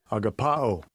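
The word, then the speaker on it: ἀγαπάω: click on that all right agapao that gives a pronunciation Strong's G25 agapa oh okay it's a verb uh it's kind of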